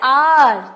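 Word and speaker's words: hour: जैसे एन आर, तो ये हमने एच जो है वो साइलेंट है. हालांकि स्पेलिंग एच से है बट साइलेंट है, तो हमने एन लगाया.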